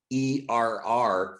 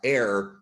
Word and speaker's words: err: to remind people that the pronunciation of the english word e-r-r from error is not uh air but er he insisted on these